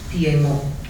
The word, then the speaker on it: Piedmont: The actual correct pronunciation of that region is Piedmont. It's a French word, means foothills.